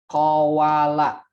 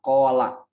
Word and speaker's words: qawala: Misalkan qawala, qaf, waw, lam, yang kemudian sering diucapkan dengan qola. Qola kan aslinya qawala.